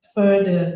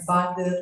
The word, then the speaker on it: further: I agree with Kahar that you need to improve your pronunciation, like further, bukan father, line to father, sama further.